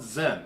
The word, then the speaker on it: Zen: It actually comes from a Chinese word called Chen, which the Japanese couldn't pronounce the CH, so they called it Zen.